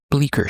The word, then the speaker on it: Bleecker: If you pull the Ace knives up, it's listed in there and it's spelled B L E C K E R. I do believe like Bleecker Street in New York City.